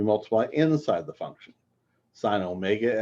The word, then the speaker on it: omega: Sine omega x, cosine omega x.